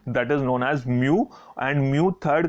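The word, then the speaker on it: μ: इसको हम क्या प्रोनाउंस करते हैं, एम यू, म्यू। जैसे आपका छोटा u होता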